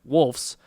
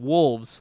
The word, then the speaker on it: wolves: You bring up wolves, and I said it wrong again. Wolves. There we go, with a V.